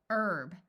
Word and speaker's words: herb: say ow hour hourly herb note that in the US the H is silent in this word but in some countries